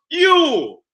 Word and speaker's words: Yule: It's spelled many times J-U-L. Yule. But it's still pronounced Yule.